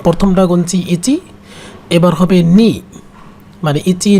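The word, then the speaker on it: 二: নি মানে উচ্চারণটা হবে নি।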